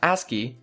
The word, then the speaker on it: ASCII: to you by bitmerge asci pronounced asky is the American Standard code for information interchange let's look at what that means and how you can use it aski is based on the